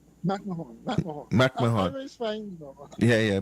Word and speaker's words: McMahon: You all in the United States have this funny way of pronouncing it, McMahon. Remember Ed McMahon? Yeah, when I had a football player named McMahon, so we say McMahon.